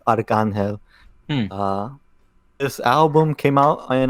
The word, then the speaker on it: Arcángel: Archangel, or in Spanish it's Arcángel.